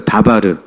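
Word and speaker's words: דבר: 다바르. 자, 광야는 미드바르. 말씀은 다바르.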